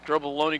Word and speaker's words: Drobovaloni: If you're wondering, heard Denny give me the name of Drobovaloni. That's how I came up with the pronunciation there. So thank you, Denny. Drobovaloni goes in motion.